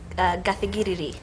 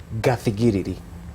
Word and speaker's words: Gathigiriri: So let's talk about, first of all, I'm sure I'm pronouncing it wrong. It's Gathigiriri. Gathigiriri.